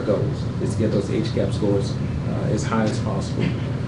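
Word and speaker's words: HCAHPS: There's something within Press-Gaining called HCAP scores, which basically, HCAP, H-C-A-P-H-S, HCAP is the acronym for it, is how they pronounce it.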